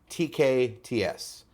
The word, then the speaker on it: TKTS: things, and it's like, it's not TKTS or TKTS, it's TKTS. Right? Like when you say it, it's TK, pause, TS. TKTS. The TKTS booth. Like that's how you say it.